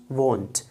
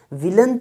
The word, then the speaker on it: won't: Is, isn't, was plus not, wasn't, were plus not, weren't, will plus not, won't. विलेंट नहीं होता है, will plus not विलेंट नहीं होता, won't, won't.